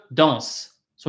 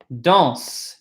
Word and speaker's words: danses: If it's tu, like you dance, tu danses. It's pronounced the same way, written differently.